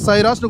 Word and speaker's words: Syros: அண்ட் இது நீங்கள் சைராஸ்னு கூப்பிடுவீங்களோ சிராஸ்னு கூப்பிடுவீங்களோ அது உங்களுடைய இஷ்டம். எப்படி ப்ரொனவுன்ஸ் பண்ணுறீங்களோ ப்ரொனவுன்ஸ் பண்ணுங்கள். ஆனால் சைராஸ் அப்படிங்கிறத அந்த பெயர்